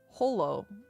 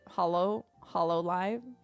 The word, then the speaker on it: hololive: Holo. H-O-L-O. They're all pronounced slightly differently. HoloLive. Not... I guess sometimes we say HoloLive. HoloLive. When we speak English. Like the word hollow.